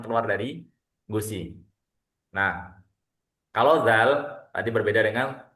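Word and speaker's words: ذال: Jadi bukan za. Jadi sekali lagi bukan za. Jadi bukan dalikal kitabula. Nah, ini salah ya. Memang tulisannya bentuknya ada D Z A zaal karena huruf aslinya huruf bacanya adalah zal tapi aslinya dza. Dza. Jadi enggak ada enggak ada zanya itu z bukan tapi dza. Dza ini versi tipisnya.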